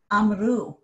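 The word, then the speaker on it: אָמְרוּ: But as soon as I say we said, as soon as I say they said, amru, now my stress is on u.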